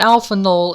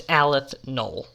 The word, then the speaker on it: aleph null: null and i know i said alpha null in this video earlier but that is only because i am stupid and my mouth was dry and i said it wrong no it's just because i'm stupid that's why i just said it wrong it's aleth knoll now i'll probably put